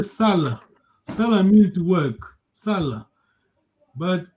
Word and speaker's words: sala: Another Salah is long vowel. Salah. Say behind and work. The same word, S-A-L-A. So your tone, the way you pronounce gives the meaning to the word.